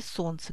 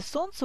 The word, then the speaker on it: солнце: Такое происходит, если в слове есть непроизносимые согласные звуки, как, например, в слове «солнце», где есть непроизносимый согласный, обозначенный на письме буквой «Л». Поэтому в слове «солнце» у нас 6 букв, но 5 звуков.